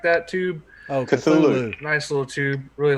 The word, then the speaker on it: Cthulhu: Cholula, something like that tube. Oh, Cthulhu.